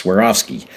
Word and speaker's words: Swarovski: You know we tell them you swear off skiing that's Swarovski.